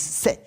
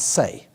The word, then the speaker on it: Say: And we have an economist who I'm reliably informed is pronounced Jean-Baptiste Say, not Say.